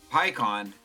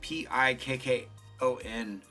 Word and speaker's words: Pikkon: Ooh, SR Pikkon is how you pronounce it. But I could swear it was like Pikkon when I was a kid.